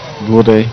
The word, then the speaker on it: Bourdais: Bourdais, thank you.